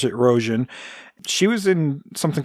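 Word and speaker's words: Rogen: Roan it's U spelled Rogan but it's they pronounce it Roan she was in something called Dragon Wick o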